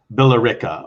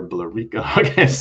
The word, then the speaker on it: Billerica: what's the actual town called it's called billerica billerica okay i wasn't sure billerica or blu rico no don't worry everybody pronounces it okay all right what's uh tell